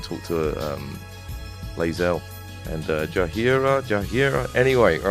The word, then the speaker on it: Jaheira: Jaheira, that is it. Jaheira. I used to say it like fucking Shakira.